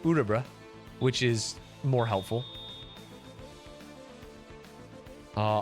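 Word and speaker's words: Örebro: I learned it's pronounced Urabra, which is more helpful.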